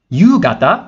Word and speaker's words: ゆうがた: And we have ゆうがた, which means evening. And again, the pronunciation changes from ka to ga.